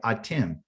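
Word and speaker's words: אתם: And how do you say you plural in Hebrew? You say atim.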